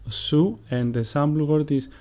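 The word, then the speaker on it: Σίγμα: Sigma, which is pronounced su, and the sample word is chocolata, which means chocolate.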